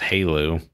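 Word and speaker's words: HALEU: uh abbreviated to hu which is pronounced Halo and this is five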